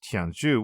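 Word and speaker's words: 天竺: Now, the Sinitic characters used to denote this region are pronounced today as Tianzhu, with a rough meaning of center of heaven,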